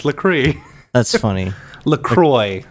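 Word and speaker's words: LaCroix: pronounce lree that's funny lroy lroy it in it rhymes with enjoy okay I'm I do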